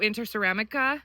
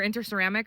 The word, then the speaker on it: Interceramic: And then, um, we purchased this through Interceramica or Interceramic. I'm sorry, I pronounced that wrong in the last video, too.